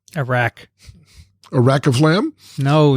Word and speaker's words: arak: Some sources state that this dish is traditionally served with arka. Arak.